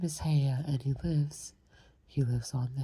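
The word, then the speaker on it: Haigha: His name is, let's see, he pronounced it so as to rhyme with mayor. Haya?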